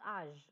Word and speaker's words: âge: Like in English, we can say it's age, but this in French, its pronunciation is âge, the âge rule.